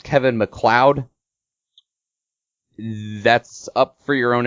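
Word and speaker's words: MacLeod: m capital L E O D I would pronounce this Kevin mlod um other people are telling me it's pronounced Kevin McLoud that's up for your own interpretation you can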